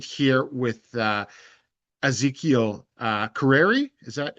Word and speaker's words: Kereri: So I reached out and I was uh connected here with uh Ezekiel uh Carreri. Is that how it's pronounced? Yes, Kerreri.